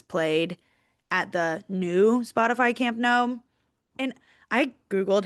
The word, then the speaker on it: Camp Nou: at the new Spotify Camp Nou. And I Googled how to pronounce it. It told me to pronounce it like the word no in English.